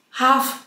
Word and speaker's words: half: bardziej chyba czekam się o wymowę tego niemego l którego tam ma nie być to zapraszam cię do mojego odcinka o niemych literach jest cała seria właśnie gdzie l i innych liter nie wymawiać half Price pół ceny